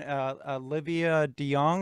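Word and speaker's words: Olivia DeJonge: up to, but then as she continued on, Olivia De Jong, is that the way you pronounce that?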